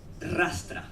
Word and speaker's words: rastra: This is called rastra. Can you pronounce the R like that?